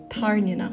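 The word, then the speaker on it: Tairneanach: with the big one Violet's dragon is called tarnina and this is the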